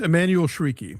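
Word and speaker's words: Emmanuelle Chriqui: It's Emanuel Shrieky.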